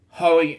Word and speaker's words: Hoey: Hoey, that's how we pronounce his last name.